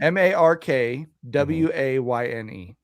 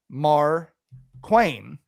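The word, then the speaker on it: Markwayne: Apparently, if you call his office and said you want to speak to Mark Quain Mullin, they got pissed that it's like it's pronounced Mark Wayne.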